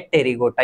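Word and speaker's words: Apterygota: अरे मेरे साथियों, पी साइलेंट है, अपन अंग्रेजी में थोड़ा सा वीक है ना, थोड़ा सा ज्यादा ही वीक है, इसलिए अपने को समझ में नहीं आता। ये क्या है, टेरिगोटा, ये पी को क्या कर देते हैं, ये साइलेंट कर देते हैं। ये पता नहीं कि क्यों साइलेंट करते हैं, पर ये क्या कर देते हैं, साइलेंट कर देते हैं किसको, पी को, और क्या छोड़ देते हैं, ओनली टेरिगोटा। ओनली क्या छोड़ देते हैं साथियों, टेरिगोटा।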